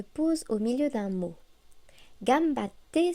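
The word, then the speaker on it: がんばって: Gambatte se prononce gambate. En romaji, nous indiquons la pause avec deux consonnes identiques, comme ici avec les deux T. En hiragana, il faut ajouter un petit tsu.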